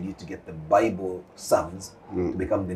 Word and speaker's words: Psalms: Can you imagine all along I've been saying Sam's? And the company name is Sam's. So there is a difference between the two. So those who have a very good sense of pronunciation, they will always be very, very cautious about the pronunciation of the two words. Psalms. Yes. And it's the Psalms. The Bible Psalms, yes. And this is Sums.